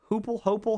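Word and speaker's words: Heupel: Uh, under Josh Hoopal, how do you say his name? Hipel.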